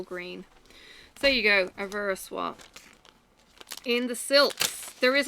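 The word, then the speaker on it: Au Ver à Soie: I was corrected in my bad pronunciation. Shame on me to the French. Okay, so Avera Soie, we've got 215, which is this bright green.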